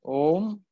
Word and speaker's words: Om: But the wise people, kavayaha vedayante, the wise people collectively meditate upon Om, A, U and M collectively, pronounced as Om.